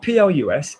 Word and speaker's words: plus: I'm going to pronounce it plus.